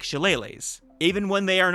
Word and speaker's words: shillelagh: It has a bunch of different pronunciations depending on who you ask and the region and all that stuff, but I went with shillelagh because it gives Elele a nice bouncy feeling, like skipping through the meadows.